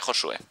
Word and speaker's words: Josué: Josué, se pronuncia Josué.